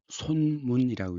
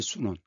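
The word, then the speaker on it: 孫文: 중국 근대의 시작은 1911년 순원이 중심이 된 한자는 손문이라고 있죠. 중국발음이 순원.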